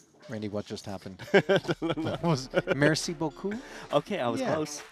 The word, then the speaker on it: merci beaucoup: Merci, boo-boo-coo? Something like this? Randy, what just happened? Was merci beaucoup?